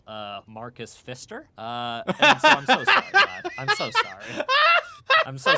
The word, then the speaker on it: Pfister: so sorry i mean he has a p in front of it but i can't imagine you pronounce the p you don't think it's yeah or god forbid pfister that is the darkest timeline hello